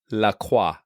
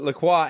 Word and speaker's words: LaCroix: And because I'm an insufferable snob, I pronounce it La Croix.